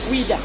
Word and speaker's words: Ouidah: Daomé, you pronounce it Ouida.